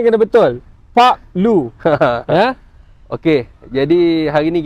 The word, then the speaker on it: Park Lu: Pronunciation kena betul. Pak Lu.